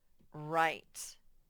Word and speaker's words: write: next word is write this is a tricky word because the beginning letter is silent you can't hear it it's like it wasn't even there and the i says it's long sound it says its name this e that you'll